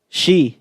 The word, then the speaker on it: Xi: no look at me last name is um she she spell it s x i n g right no she you said she and then you said Shing h no king is that's how you no she x i she x i what then